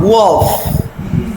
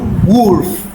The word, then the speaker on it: wolf: It is not wolf, it is wolf. It is not wolf, it is wolf.